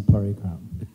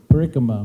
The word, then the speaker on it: parikrama: taking us on a parikram. That was so sweet. And we didn't even have to... Parikrama, whatever. It's a long A in the end, so you can't drop it.